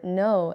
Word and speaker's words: know: For example, the word no is spelled K N O W, but we do not say the K, we say no.